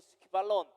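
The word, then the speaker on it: σκύβαλον: 이 말씀이요 오늘날 우리들의 삶 가운데에서 스키발론, 헬라어로 스키발론, 스키가 아니라 스퀴, 쿠에다가 이 발음, 그죠?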